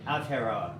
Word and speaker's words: Aotearoa: I'm still You're working on on that It's pronunciation. okay. Aotearoa.